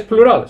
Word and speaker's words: plural: Tiene un toque distinto un poquito en inglés cuando se pronuncia. Es plural, no es plural como en español. Plural, el acento va al principio, plural, pero es muy parecido.